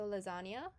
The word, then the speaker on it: lasagna: Spanish en sound so you kind of act like there's a y after the N so lasagna I think a lot